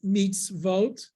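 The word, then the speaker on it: מצוות: So how do we know that it's mitzvot? There would be a shva before it. Say under the tzadi, mem, tzadi, vav, tav. Mitz, that's the first syllable, mitz. So you have to have a consonant sound after the syllable ends.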